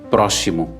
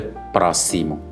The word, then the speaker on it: próximo: Há quem, por exemplo, diga próximo. Sim. Quando aí este X tem um valor de duplo S ou duas S, que é a forma correta, são letras, diz próximo quando é próximo.